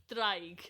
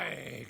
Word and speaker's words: draig: Draig. But it's spelled D-R... Draig. Yeah, you gotta roll the D. It sounds a bit Game of Thrones.